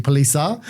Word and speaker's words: Palise: Well, I say Palise, and we had this chat beforehand. But when I was in Italy a couple of months ago, they said it was actually Palisa, which I find hilarious because my partner's called Lisa.